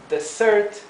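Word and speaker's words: dessert: un budín s Desert fíjense que aquí la s es una s suave a pesar de estar entre dos vocales Por qué Porque la s está complicada tenemos doble s Desert si en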